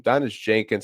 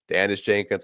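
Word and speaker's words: Daniss Jenkins: Last podcast, I was pronouncing his name wrong. Someone had called me out on it. It's Donis Jenkins. I keep saying Donis Jenkins. It's Donis Jenkins. I will correct myself from here on out.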